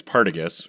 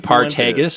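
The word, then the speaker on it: Partagás: he loves to pronounce apparently it's paragus but it should be paros partus yeah paragus whatever A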